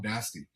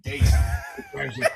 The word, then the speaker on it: Dasty: best friends in Dom Dasty. And yes, Sammy, the first time you tried to pronounce his name, you obliterated. You said Daisy. Daisy. It's Dasty.